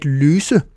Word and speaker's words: løse: The Danish S is always pronounced like the English double S. It's s, always, even when it's between two vowels. As an example, at løse, which means to solve.